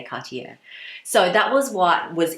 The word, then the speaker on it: Cartier: ribbon by the way I'm pretty sure I'm pronouncing Cartier wrong apparently I think you're supposed to pronounce it more like cut you but my French viewers please correct me if I'm wrong but yeah that's I think that's apparently how you pronounce it but you know